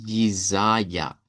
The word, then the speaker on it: Jesaja: Que en idioma Deutsch suena como Jesaja.